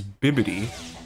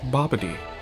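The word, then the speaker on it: Bibidi: could uh yeah and the scroll was actually right it is bibid but yeah yet King Kai said it wrong he said Boby all right well first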